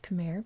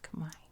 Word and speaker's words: Khmer: like that so i'm going to stick with khmer because i'm american and i'm going to stick with american pronunciations but know that for the most part it's pronounced kamai anyway the khmer empire is incredibly powerful they